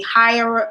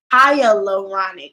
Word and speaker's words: hyaluronic: wash my face and then I used a higher banach higher pronounced actually not correct go with that high hat its hyaluronic last hyaluronic and you I used a hyaluronic